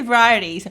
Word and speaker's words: varieties: I can never pronounce that. Kayla, how do I say variety? Variety? Varieties? Baby, how do I say varieties?